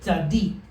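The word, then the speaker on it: צַדִּיק: So it becomes tzad dik, which we would just pronounce Daddy. tzadik. Tzadik. You're going to roll off of one into the other.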